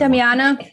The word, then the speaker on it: damiana: you pronounce it i don't know how to pronounce that damiana yeah yes because he's like he has anxiety